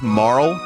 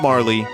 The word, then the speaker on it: Marle: By the way, it's Marle, not Marley, because in the Japanese version, her name it's pronounced Maru. So Marle is closer to Maru than it is to Marley.